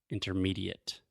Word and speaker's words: intermediate: intermediate intermediate yes so a mistake that Alexia commits quite often and almost all my students is words that end in ate or ASE many many times we do not pronounce them as eight or Ace for example Alexia always says purchase purchase purchase intermediate intermediate adequate adequate delicate delicate there we go awesome and